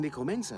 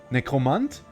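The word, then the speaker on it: Nekromant: Either you will say German, Necromant, or you say English, Necromancer, but don't combine them.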